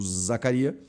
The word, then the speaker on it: Zakaria: Zacária ou Zacaria ou Zacarias. É Zacaria, tá? Não tem s.